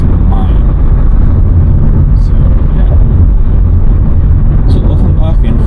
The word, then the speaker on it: Main: itself is the main, or in German language, its pronunciation is mine.